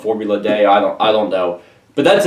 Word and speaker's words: Formula D: And so that is Formula D. Or Day. Like, it's a D. Like, everyone pronounces it Formula Day. Maybe, I think that's the original. I think it was originally called Formula Day.